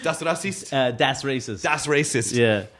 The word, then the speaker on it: Das Racist: Das Racist.